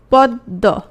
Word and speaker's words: পদ্ম: পক্ষ পক্ষ থেকে পক্ষ পদ্ম প দ ম বানানটা এভাবে হ্যাঁ এটা কি হয়ে গেল পদ্দ দুটো দ হয়ে গেল তাহলে এই দ এর